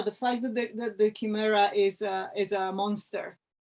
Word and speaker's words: chimera: of pronouncing it and in Italian it's Kimera and in Italian schemera